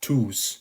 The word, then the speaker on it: tous: Placed before a noun, it is pronounced tu, just like the singular. So you would have tous les jeux, all the games, which is pronounced tous les jeux.